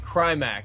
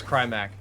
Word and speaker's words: Crimac: It's pronounced Crimac. Here's another $5. Thank you, Crimac. I appreciate it, and I'm sorry about not pronouncing your name correctly. Your name is Crimac.